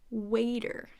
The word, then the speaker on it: waiter: wetter than those clothes and then waiter has a long a the other parts are the same right what a dirt waiter so not waiter waiter who's our waiter who's